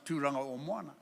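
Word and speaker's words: Tauranga: Tamaki it's not Tamaki I can forgive you if you can't pronounce turana but please don't call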